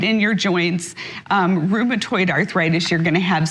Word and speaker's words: rheumatoid: And then there's another common type of arthritis, which is rheumatoid. I'm pronouncing that correctly.